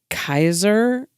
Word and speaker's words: Caesar: I think that the lore is that in this world, post-apocalyptic, nobody knew how Caesar was pronounced anymore. So they said Kaiser because that's how it looked. Hilarious.